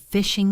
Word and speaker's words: phishing: We need to be careful about phishing scams. Phishing, spelled with a PH, is when hackers try to trick you into giving them your password by sending fake emails. It sounds like fishing, like catching fish.